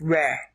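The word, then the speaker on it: רע: So this word is pronounced re.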